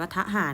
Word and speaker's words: ทหาร: เอ รอ เณร ทอ อัน นี้ อ่าน ว่า ทหาร เนาะ จริง ๆ มัน อ้ะ มัน ไม่ ใช่ คำ ควบ มัน ไม่ ใช่ คำ ควบ กล้ำ และ ลูก นะ คะ